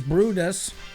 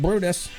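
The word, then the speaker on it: Bryde's: other brides, pronounced as Brutus. So B-R-Y-D-E-S is pronounced Brutus.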